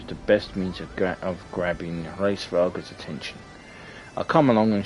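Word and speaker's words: Hraesvelgr: That's how they pronounce it in the game, Hraesveglr.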